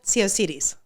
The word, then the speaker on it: Tsiaousidis: Tsiaousidis. Tsiaousidis?